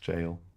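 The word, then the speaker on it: gaol: So like the elder ring thing it was like Welsh spelling of jail is go or gale that's g a o l but it's just pronounced jail.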